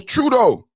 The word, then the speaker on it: Trudeau: Yes, it was Trudeau. And remember what Trudeau and everything he said about Trump in America and the standoff with the tractor trailer trucks and the shipping logistics.